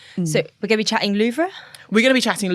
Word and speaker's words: Louvre: to Abu Dhabi love Louvre Louvre apologies me butchering the French will be listening going ah no but yeah luffra is my understanding of how to pronounce it no I think